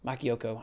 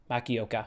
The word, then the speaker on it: Makioka: Makioko, I think is how you say it. Makioka.